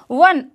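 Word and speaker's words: one: वन, ओ क्या है, vowel है बट इसके आगे इसकी जो साउंड आ रही है व की साउंड आ रही है ना, तो साउंड को बहुत ज़्यादा मतलब साउंड पर ही हमें ध्यान देना है। वन रुपी नोट, तो इसके आगे भी हमें ए लगाना है।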